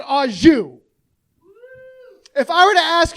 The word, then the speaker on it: au jus: A French dip is so luxurious, that shit comes with its own dipping sauce, and that dipping sauce is pronounced au jus.